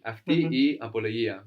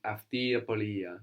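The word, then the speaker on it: αυτή η απολογία: Αυτή η apologia. Very good. And this will blend together in spoken. No? So in spoken Greek, it will just sound like αυτή apologia. No, it's all going to blend together.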